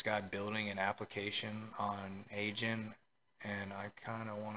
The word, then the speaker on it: AIGNE: this whole time it's a I was saying a Agy because that's what it looks like but it's pronounced a gen so you know jokes on me guys I've